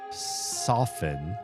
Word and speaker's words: soften: And then I looked it up and I saw that this word, much like the word soften, based off of the word soft, does not pronounce the T.